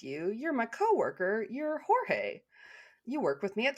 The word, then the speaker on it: Jorge: I used to think it was George, but I'm pretty sure it's pronounced Jorge.